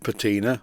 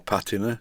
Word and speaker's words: patina: It's got a little bit of patina or patina, depending on how you pronounce it, on the flywheel that would clean off, but I like it the way it is.